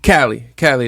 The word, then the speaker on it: Cvlii: Pronounced Cali. Cali. The A is upside down.